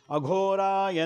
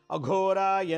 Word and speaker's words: ಅಘೋರಾಯ: ಅಘೋರಾಯ ನಮಃ, ಓಂ ಅಘೋರಾಯ ಘೋ ಭಾಳ ಉಚ್ಚಾರಣೆ ಇಂಪಾರ್ಟೆಂಟ್ ಇಲ್ಲಿ. ಅಘೋರಾಯ ನಮಃ ಮಹಾಪ್ರಾಣ ಘ, ಅಘೋರಾಯ ನಮಃ ಅಂಥೇಳಿ ಊದುಬತ್ತಿಲಿ ಅರ್ಚನೆ ಮಾಡಾದ್ಮೇಲೆ ಊದುಬತ್ತಿಲಿ ಆಮೇಲೆ ಆರತಿ ಮಾಡಿಬಿಟ್ಟು ಒಂದು ಕಡೆ ಇಡಿ.